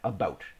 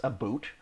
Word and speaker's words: about: pronounce the word about I pronounce it as it's written again about I don't say a